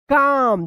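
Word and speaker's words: calm: एल ओ डब्ल्यू एल Y slowly and stay काम देखिए यहां पे एम से पहले एल आया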